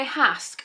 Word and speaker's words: Hask: seen that unwind by hask oh so it's hask like it has hair mask i love that that's